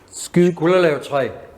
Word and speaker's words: Skulderlev-træ: And how do you pronounce this? Skulderlev-træ.